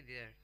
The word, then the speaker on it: vier: VIER spelling है उसकी, और उसको बोलेंगे देयर.